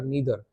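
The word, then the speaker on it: neither: देखो आइदर या ईदर, नाइदर नीदर, दोनों प्रोनाउंसिएशन यूज कर सकते हैं according to American British accent, as I told you earlier,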